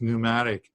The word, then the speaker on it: pneumatic: a pneumatic um cheese you you just drop the p on it and it's and almost an e as well so it's pneumatic pneumatic pneuma but there's